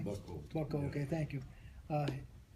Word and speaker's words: Boeckholt: This morning I'm speaking with, I'm pronouncing Boeckholt, don't I? Boeckholt.